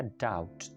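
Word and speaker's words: doubt: अंदर बी है, लेकिन इसको कहा जाएगा डाउट, बी साइलेंट है।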